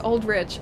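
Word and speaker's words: Aldrich: to make tea uh trailer does pronounce it as Rich I just watched it really it does okay so it's old rich I have to apologize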